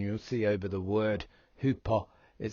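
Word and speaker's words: ὑπό: see over the word hupo, it says HYPO as the phonetic pronunciation, but when you do click on that strong number, it will explain to you the pronunciation is hupo.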